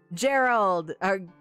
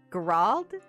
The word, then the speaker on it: Geralt: Gerald! No, it's not pronounced Gerald. It's like Geralt? They pronounce it like in a fancy way.